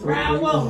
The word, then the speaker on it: Rowell: I said it right, Rouse. At 5819 Templeton Road, Suite 105. Well, I don't understand. Rowell, no S. Rowell. Rouse. Rowell, actually. Say that, Rowell.